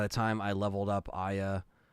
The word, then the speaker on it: Aya: So I was going to stream Parasite Eve, but then by the time I leveled up Aya, which is apparently how you say her name, not Aya, it's Aya.